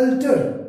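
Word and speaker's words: altar: सो ए एल टी ए आर अल्टर means change करना बदलना एंड ए एल टी ए आर अल्टर pronunciation same रहेगी but what does it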